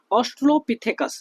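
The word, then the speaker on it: Australopithecus: देखिए, तो सबसे पहली बात जो है, ठीक है, ऑस्ट्रोलोपिथेकस, आपने नाम सुना होगा ऑस्ट्रोलोपिथेकस, मैं शॉर्ट में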